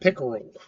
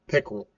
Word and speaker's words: PICKERL: Talking about the SANS instant response cycle or pickle preparation, identification, containment, eradication, recovery, and lessons learned. Yes, I know it's spelled different than the fish pick rule, but I say it the same way.